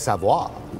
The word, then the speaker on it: Saveur: So if you're in the US, you say SAVEURvape because they can't pronounce a French word. Anywhere else is SAVEURvape. But in French, though, it's Savoie.